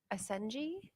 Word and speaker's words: Asenji: Is it Asenji? It's correct. I was almost there.